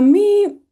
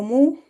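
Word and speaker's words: μ: La mi o mu es lo mismo, se pronuncia m, la ni igual n.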